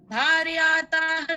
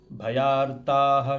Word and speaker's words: भयार्ताः: अग्निना दुह्यमानस्तु शत्रुमध्ये गतो रटे विषमे दुर्गमे चैव भार्याताः शरणं गताः। भार्यार्ता नास्ति, भयार्ताः शरणं गताः।